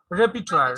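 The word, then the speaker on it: repertoire: সো রিপার্টিওয়ারি, রিপার্টওয়ার, রেপিটওয়ার, রেপিটওয়ার, হ্যাঁ রিপার নয়, আর এর উচ্চারণ নাই।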